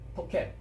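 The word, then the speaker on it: תאכל: 이렇게 토라고 붙어서 토켈이라고 발음을 하는 겁니다. 토켈.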